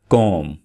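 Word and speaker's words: comb: मदद से, इस चीज़ की मदद से वो साफ़ कर सकते हैं। तो इसको बोला जाता है dental floss. Dental floss. कॉम। कॉम। यहाँ पे बी को साइलेंट रखिएगा। कॉम।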